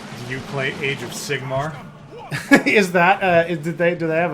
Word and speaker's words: Sigmar: Hold on, but Signar is a No, Sigmar.